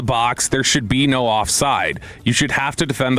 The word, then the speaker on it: offside: And by the way, it's offside, not offsides, as Dawson corrected everybody in the group chat the other day.